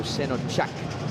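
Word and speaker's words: Şenocak: Is a name of Turkish descent, and the C in Turkey in Turkish is pronounced like CH, so Senochak.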